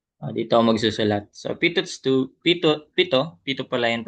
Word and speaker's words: Pitot: So pito pito pito pito pala yan pronunciation.